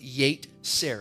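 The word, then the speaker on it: יֵצֶר: It is pronounced yetzer in the Hebrew language.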